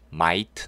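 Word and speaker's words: might: 4 ch 가 나왔네요 gh 는 발음 되지 않습니다 그래서 nm 요때 아이는 아이 발음의 마이티 마이트 인데 끝 빠른 강하게 하지 않으니까요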